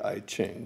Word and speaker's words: I Ching: computer I had a computerized version of the e gene some people might pronounce that the I Ching but it's ancient Chinese